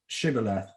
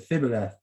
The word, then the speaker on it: Shibboleth: They said, all right, say Shibboleth, and if he said Thibboleth, then because he couldn't pronounce the word correctly, that killed him.